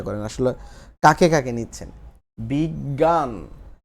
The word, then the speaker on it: বিজ্ঞান: বিজ্ঞান, এখানে বীজ আন এইভাবে চিন্তা করেন, তাহলে বিজ্ঞান হচ্ছে বর্গীয় জ যুগ ইয়, এইটার নিচে একটা হসন্ত হয়, হসন্ত হলে জ্বর, অটা উচ্চারণ হবে না, বীজ আন এইভাবে হয়ে যাবে বিজ্ঞান আসলে মূলত।